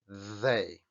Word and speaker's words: they: parece una D, y que lo encontramos en palabras como they. They. Para pronunciar esto es una D, pero tenéis que poner la lengua entre los dientes.